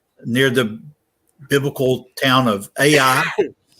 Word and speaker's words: Ai: the biblical town of Ai. What correctly should be pronounced. A is silent in Hebrew, much like the word pterodon.